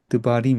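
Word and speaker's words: דְּבָרִים: 그렇죠.임이임이 되고요.임이 되고 그건 다바르 근데 강세 앞에 이건 길고 강세 앞에 앞에 이거는 드바림 이렇게 약해지겠죠? 드바림 그죠?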